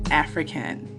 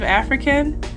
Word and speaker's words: AfriKen: So every time you hear the term African when we're speaking, it's spelled A-F-R-I and then Ken, K-E-N.